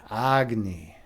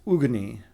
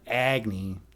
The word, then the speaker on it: Agni: Agny. Aggony. James. I mean, and by the way, that is the correct pronunciation in Hindu mythology. Uh, agny or actually it's ugy, but uh, ugy is agny also works.